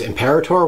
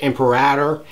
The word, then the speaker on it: imperator: Well, I've heard it as imperator, which is how I pronounce it, and I've heard people say imperator or various other variations. And this is really a tomato, tomato, potato, potato kind of thing.